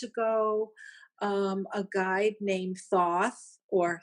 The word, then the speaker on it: Thoth: years 21 years ago um a guy named Thoth or Thoth as some people pronounce it uh he came to me um